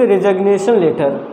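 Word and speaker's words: resign: Letter देते हैं, इट्स रिजाइनेशन letter. ये रिजाइन वर्ड है, इसमें क्या है, जी लेटर साइलेंट है दोस्तों।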